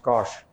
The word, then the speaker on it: cosh: And this is defined as cos hyperbolic, pronounced cosh theta.